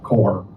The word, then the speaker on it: Korps: Korpse. Uh k o r p s Um Uh is how it's spelled, but it's pronounced Corps, like the Marine Corps.